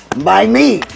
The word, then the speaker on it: MiMe: MiMe. MiMe, not mine, MiMe.